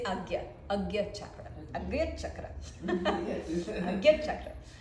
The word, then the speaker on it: Ajna: It's very hard to pronounce. Some people say Ajna, Agya. How do you spell it? A-G-N-A with a little sign on top of the N. Agya. But in Indian, I'm not an Indian, I'm Brazilian, so it's just my accent.